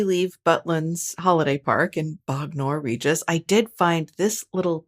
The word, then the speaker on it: Bognor Regis: That's pronounced Bognor Regis. Yeah. Okay, great. I've been saying it like Trogdor. Bognor.